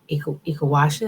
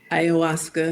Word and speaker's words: Ayahuasca: person had taken Ikawasha, am I saying it correctly? Ayahuasca.